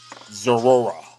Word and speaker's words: Zoroark: I always want to say Zora. I got to get that Zoroark in there. Got to be special and be over-pronunciated. Zoroark.